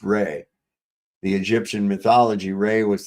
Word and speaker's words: Ra: Um the word ra is the name of the ancient god called rah pronounced ray.